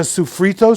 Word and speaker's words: sofrito: This is the sofrito sauce, and we got onions and peppers.